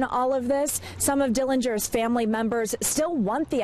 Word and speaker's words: Dillinger: They say the correct pronunciation of their last name is Dillinger.